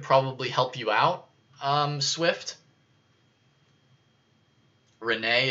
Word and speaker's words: Renee: Renee is how you say it.